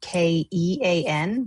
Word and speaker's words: Kean: Their last name is spelled k e a n, but is not pronounced keen, it is pronounced Kean.